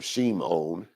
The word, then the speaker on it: Shimon: But anyway, Shimon, Simon as he's known, Shimon, or Shimon, to say it properly, Shimon the righteous or